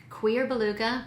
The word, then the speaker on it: Cuir Beluga: vanilla that just face to me it is queer beluga and yes that is the proper pronunciation somebody really took me to town in